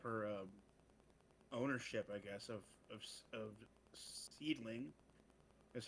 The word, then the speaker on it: Seedling: Well, Nane gave up her ownership, I guess, of Seedling, is how it's pronounced.